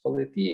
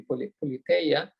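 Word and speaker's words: πολιτεία: science, because politia indeed, in the Raelian pronunciation it is politia, in the Erasmian it would be politeia, whatever you prefer.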